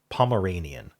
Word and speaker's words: Pomeranian: Pomeranian. If you don't pronounce the L, I guess.